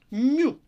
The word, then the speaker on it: мю: Мю – коефіцієнт пропорційності або коефіцієнт тертя ковзання. Мю, читається мю, пишеться як літера М, який напили на першу ніжку, такого вона довга у неї.